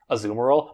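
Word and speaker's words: Azumarill: water uh shards to because I have an azumero I know I know it's actually pronounced azumerel but I refuse to pronounce it like that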